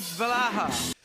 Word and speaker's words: Valhalla: Assassin's Creed Valhalla. It is now canonically the right way to pronounce it.